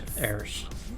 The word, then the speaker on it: Eruers: notes errors errors okay it's pronounced errors it's an up-and-coming uk